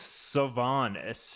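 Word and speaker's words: Siobhan: now is that it Sion I think it's Savon silent h Patrick SA or Savon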